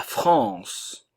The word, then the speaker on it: France: la la Grèce la France le E ne se prononce pas nous avons la nasal